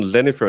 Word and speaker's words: Jennifer: But uh it's we would do more instead of a jen, we would do a yen with an a.